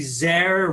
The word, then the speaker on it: Zare: Well, Dr. Zare, rhymes with care.